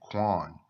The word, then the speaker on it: Qayin: Qayin and Hebel is just the Hebrew pronunciations of their name. Cain and Abel is more of the Greek pronunciation. And from Greek, they transliterated it into English.